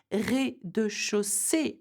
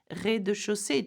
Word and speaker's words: rez-de-chaussée: Rez-de-chaussée, the ground floor. Can you see that? Rez-de-chaussée, two different E's here, same sound.